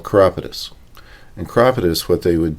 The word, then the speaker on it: chiropodist: Chiropodist is how that would be spelled. Oh, okay. They pronounce it chiropodist.